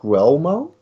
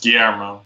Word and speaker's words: Guillermo: Is it Guillermo? No, it's Guillermo.